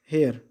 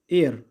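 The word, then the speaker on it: heir: कि अगला फिफ्थ है एन हेयर, इसको हम पढ़ेंगे दोस्तों एयर, इसको पढ़ेंगे एयर, इसीलिए ये एच साइलेंट है यहाँ पे, इसीलिए यहाँ पे वोवेल यानी कि एन लग गया है।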